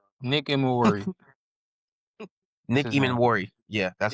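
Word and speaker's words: Emmanwori: Nick Eman Worry.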